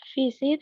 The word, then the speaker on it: visit: In A, visit has two syllables. Vis plus it. In the word visit, the stress is one the first syllable.